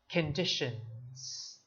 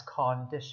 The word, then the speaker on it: conditions: conditions repeat after me conditions conditions now notice that it is condition not cognition right please do not read it as please do not pronounce it as corn dish it is condition conditions